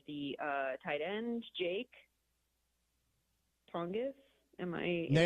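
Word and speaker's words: Tonges: I think we'll see a lot from I'm gonna butcher the last name of the uh tight end Jake Tongis.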